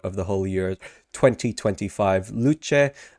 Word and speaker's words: Luce: the Holy year 2025 luche Italian for light I'm pretty sure that's how you pronounce it luche says the mascot